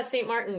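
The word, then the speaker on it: Saint Martin: with uh on I don't know how to pronounce the island scene Martin. Oh yeah. St. Martin.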